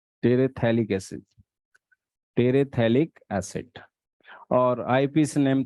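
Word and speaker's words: terephthalic: PH silent होता है, टेरेथैलिक acid, टेरेथैलिक acid.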